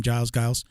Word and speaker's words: Giles: Giles.